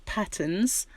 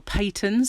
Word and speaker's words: Patons: This is Patterns, or Patons, I think they pronounce it.